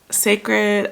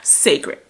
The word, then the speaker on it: Cécred: hair looks like also I had to look up how to say the name of her line sacred I didn't I had asked my girl Cammy shout out to Cammy sacred okay okay here's their